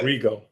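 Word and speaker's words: Arrigo: Rigo.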